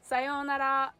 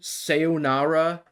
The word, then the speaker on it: sayonara: feel like yeah but everyone accents it with like funky in english so you can learn like sayonara yeah you're telling me that every american has been saying it wrong all this time sayonara sayonera very good japanese